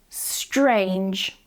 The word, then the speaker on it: strange: Now let's practise this in some words, the first one: strange, strange. Be careful that you're not adding vowel sounds before or in between any of the sounds so you're not saying e-strange or se-trange, okay?